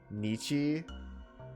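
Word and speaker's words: Nietzsche: that she'd only read Knights s and without a bookmark she couldn't move on to other philosophers nii that's how that's pronounced philosophy along with psychology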